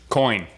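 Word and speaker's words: Kuony: So, can I get your thoughts on Quani Dang? Coin. Like. Coin Dang? Coin, just like flip a coin.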